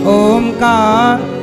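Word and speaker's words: ओम्: आ बोलो आ उ म अब तीनों को बोलना औ उ आ तीनों उच्चारण होने चाहिए।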